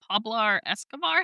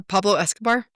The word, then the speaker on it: Pablo Escobar: I actually think of Is it Pablar Escobar? How do you say his name? Yeah, Pablo Escobar.